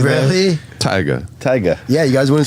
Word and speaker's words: Tyga: Tyga.